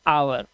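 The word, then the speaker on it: hour: हम घंटे को कैसे बोलते हैं? हम बोलते हैं आवर।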